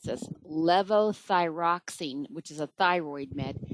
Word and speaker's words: levothyroxine: How do you help a patient on 40 years of, I don't know that I can pronounce this, levothyroxine, which is a thyroid med, and has anxiety and high beta?